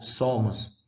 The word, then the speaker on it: somos: transformou também em o, somos. Engraçado que foneticamente, né, somos, pronunciamos o último o como se fosse u.